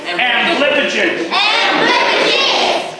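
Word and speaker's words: amblypygid: I'm going to have to insist that all you boys and girls pronounce its name properly. Everybody repeat after me. Amblipigid. No. Amblipigid. Amblipigid.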